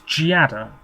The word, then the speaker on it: Giada: tock uh oh yes Giada or gay have I been saying her name wrong what is it's jiada yeah I depend on